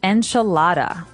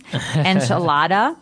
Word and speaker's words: enchilada: say the American pronunciation enchilada and you're going to hear Marco say a more appropriate a little bit with a more Hispanic accent to it that's right so the